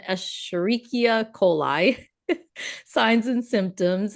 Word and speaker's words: Escherichia coli: coli, so pronunciation Escherichia coli.